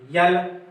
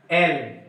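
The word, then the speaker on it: L: यल, यल नहीं, यल नहीं, एल। क्या होगा? एल होगा। तो यल नहीं, एल होगा। इसका उच्चारण एल होगा।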